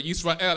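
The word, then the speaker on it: ישראל: And as Jehovah God has called that nation, called the children of Yisrael, Jacob, who's the grandson of Abraham, whose name was changed to Israel, or Yisrael as it's pronounced in Hebrew, that is the nation that Jehovah God focuses His attention on.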